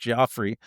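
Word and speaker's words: Giuffre: Um, there's the the the the testimony of the late um, uh, Virginia, I think it's pronounced Joffrey.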